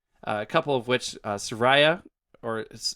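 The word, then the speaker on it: Saria: couple of which uh soraya or i think that's that's all i've always said i've always said sorry sorry is probably more correct i don't know soraya sounds more interesting i would say soraya's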